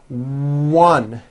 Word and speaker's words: one: Also be aware that the W sound occurs in some words beginning with the letter O, like in the words one and once.